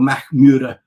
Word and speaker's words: Mackmyra: So so MACKMYRA, or MACKMYRA, which is probably closer to how a Swedish person would pronounce it.